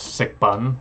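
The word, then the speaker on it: 食品: 食品 So this, I can validate, at least for this word, this makes sense, sikbun. Those are the actual two characters there, and that is the Cantonese pronunciation.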